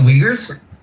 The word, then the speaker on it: Uyghur: I know what the joke was, but the actual pronunciation of their name, the Chinese group, the minority group in English, is this weird. Thing. Uyghur.